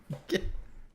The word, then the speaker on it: Gjallarhorn: I don't know how you Gallahorn. actually pronounce that, so it sounds like you sneeze. Um, it's the Gjallarhorn. It's Gallahorn.